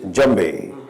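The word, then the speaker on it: djembe: actually pronounced it is jambei and the D is spelled d-j-e-m-b-e although the D is silent like how it is in French so uh why uh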